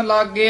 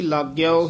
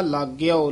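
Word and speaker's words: ਲਾਗਿਓ: परंपर पुरख स्यो प्रेम लागे आओ। ये भी लागे आओ ही उचारण करना, लागो नहीं कहना, क्योंकि गगे कनौड़ा भी है अते हेठा अद्धा यया भी है। इसका उच्चारण होएगा लागे आओ।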